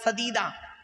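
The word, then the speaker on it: سديد: পরহেজ করো, অকুলু কাউলান সাদিদা, সদা সর্বদা সত্য কথা বলো, এখানে সিন অক্ষরটি আছে বাপেরা শুনে নিন, সিন অক্ষরটি আছে, সিন দিয়ে সাদিদ মানে সত্য কথা বলা, আর কেউ যদি সিন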